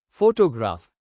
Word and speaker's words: photograph: Example, photograph stress on first syllable.